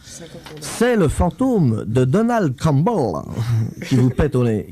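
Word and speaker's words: Campbell: Tu prononces bien parce que c'est écossais comme truc. Clan Cumble.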